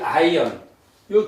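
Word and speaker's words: עין: 그래서 두 가지 예외는 이제 알렙 알렙하고이 아이언요 두 글자 히브리어에서 두 글자는 묵음입니다. 소리가 없습니다.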